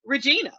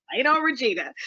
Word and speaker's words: Regennia: names, Regina, Regennia, and actually I spell it Regennia and we pronounce it Regina for people who are seeing this on the screen. Okay. It's Regina, but I Yes.